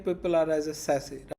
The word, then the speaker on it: SASE: Pronunciate people are as a SASE, right?